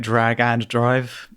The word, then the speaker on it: Drag x Drive: itself, we have uh Is it Drag X Drive? Is that the correct correct pronunciation there, um Tom? some people are calling it Drag and Drive, uh which yeah, but I think you can be forgiven for either, really.